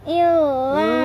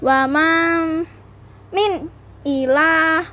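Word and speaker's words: وَمَا مِنْ إِلَٰهٍ: Wama min ilah. Bener toh. Wama min ilah. Kamu tadi bilang illa.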